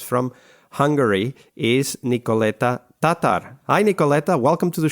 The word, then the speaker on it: Tátar: week joining us from Hungary is Nick Neta Tatar hi niketa welcome to the show hi Wesco